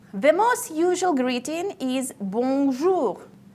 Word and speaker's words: bonjour: The most usual greeting is bonjour. Try to pronounce it correctly. The sound should go through your nose.